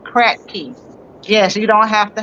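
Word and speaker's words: Kratky: Yes, those systems are called the crack key. Like I was saying, K R A T K Y. I think that's how you spell it. But crack key.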